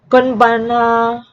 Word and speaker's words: konbanwa: When ha is used as a particle mark the subject of a sentence, it is pronounced like wa. I'll repeat, if you see the syllable ha, it is pronounced as wa. For example, konnichiwa, konbanna. I'll repeat, konnichiwa is pronounced as konnichiwa, and konbanwa is pronounced as konbanna, and he is pronounced as e.